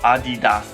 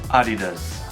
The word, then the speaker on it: Adidas: correct pronunciation is Nike Adidas is a be doggedness the correct pronunciation for this german brand is actually adidas adidas however in the u.s.